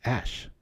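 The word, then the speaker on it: æ: cool comb oh yeah AE symbol is pronounced ash very cool I love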